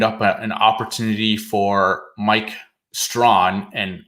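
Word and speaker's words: Strachan: an opportunity for mike strawn and i can confirm that pronunciation despite there being no w in his name from our resident colts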